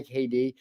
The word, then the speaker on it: KD: pronunciation of your name hi KD um kind of like Katie uh what's the musician's